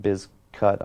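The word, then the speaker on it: Bizkut: them that much uh originally it was always pronounced limp biscuit i believe but originally the name was spelled uh b-i-z-k-u-t the biscuit was but they changed it because they wanted people pronouncing it biz cut i believe one of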